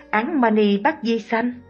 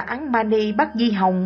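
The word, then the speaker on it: Án Ma Ni Bát Di Hồng: Bà lão ơi, bà đã đọc sai câu thần chú đó rồi, phải phát âm là Án Mani Bát Di Hồng mới đúng.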